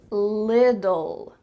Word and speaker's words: little: the first one is little little you see there's two T's in the middle of this word but really in American English those T's are gonna become D sounds so it's gonna sound